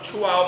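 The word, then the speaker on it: Chuao: you a little guideline so you chew and then you say wow i would like to say like if it's not a wow it's not a chihuahua so this is the way you can pronounce the name correctly now chua is a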